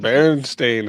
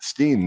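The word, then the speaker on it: Berenstain: It's not steam no more. It's stain. You know, there's also there's also always been stain.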